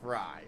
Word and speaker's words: Frey: Everybody else is Frey, but it is pronounced Fry, but I've always called him Tony Frey.